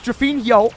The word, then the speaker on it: drufinho: It's drufinho. I'm saying the yo. I'm not saying EO.